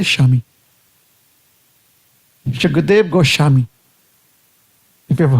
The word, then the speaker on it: Swami: So typically I would have said Swami. I come to the Bengali pronunciation. Now I make an effort to say Shami.